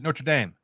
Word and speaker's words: Notre Dame: song we're gonna play is notredam or do you guys pronounce it Notre Dame notredam there we go yeah what's this song